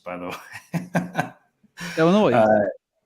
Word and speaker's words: Illinois: Kurt was gonna pronounce Illinois Illinois by the way Illinois you don't say the S at the end of Illinois so Turtle bunch of